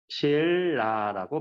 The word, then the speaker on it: 신라: 이런 현상 중에 대표적인 게 고구려 백제 신라라고 발음이 나죠. 이렇게 니은이 리을로 바뀌는 현상.